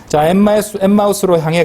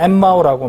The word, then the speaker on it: 엠마우스: 지명은 아니라고 보시면 되겠습니다 엠마우스로 향해 가는 우리 보통 엠마오라고 많이 그랬잖아요 그죠 발음을 살렸습니다 엠마우스로 가는 이제 향해서